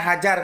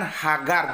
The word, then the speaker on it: Hajar: Kita bacanya Hajar, kalau di sana kan Hagar. Jadi G berubah menjadi J.